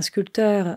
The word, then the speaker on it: sculpteur: je vousi expliquis qu'un sculpteur c'est quelqu'un qui fait de la sculpture et donc attention à ne pas prononcer le P je vous ai parler